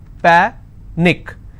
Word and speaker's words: panic: last but one syllable so let's break this panic is per nick which means i will stress on pa and it's pronounced that panic tragic trick i will